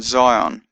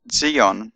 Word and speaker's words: Zion: sound Z is in Zion although Zion is actually pronounced Zeon in Hebrew but in in any